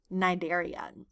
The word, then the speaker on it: Cnidaria: that word phm nider I'm purposely not saying the C so that c is silent so you you can kind of pretend like it doesn't exist and you just pronounce it with nidaria this group of organisms